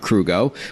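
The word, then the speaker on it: Krugo: CEO and co-founder of crew go which is spelled KR u geo welcome to the show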